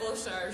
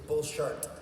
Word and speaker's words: Bulshar: to how scared of Bulshar should we all be? Well, you pronounce his name wrong. It's Bullshart.